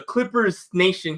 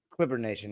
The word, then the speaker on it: Clipper Nation: Is it the S? Do you put the S there? Do you not put the S there? What's the right way to say that, Dime? Clipper Nation, yeah, no S.